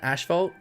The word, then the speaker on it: asphalt: But yeah, that's how I pronounce asphalt. Ash. Not ass. Asphalt. Yeah, maybe some people would say asphalt, but I say asphalt.